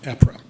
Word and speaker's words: APRA: I'm an Albany resident, have been for 46 years, and I'm president of the Albany Property Rights Advocates, known by the acronym APRA, pronounced APRA.